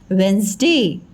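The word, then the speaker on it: Wednesday: बोलेंगे हाँ वेंसडे, pronunciation है, बट लिखते समय हमें कैसे लिखना है? WED, वेड, NES, नेस, और DAY, डे, वेडनेसडे, वेडनेसडे। ठीक है, लिखना है ऐसे हमको, लेकिन हमें प्रोनाउंसिएशन क्या करना है? वेंसडे।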